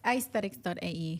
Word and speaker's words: Aysthetics: So I did a wordplay. Okay. I replaced the E with Y. Okay. I'm sure you know why I did So that. it's pronounced your name and aesthetics together. It's actually, it's aysthetic.ae.